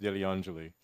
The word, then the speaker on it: Degliangelli: The first G is silent. It's pronounced Degliangeli.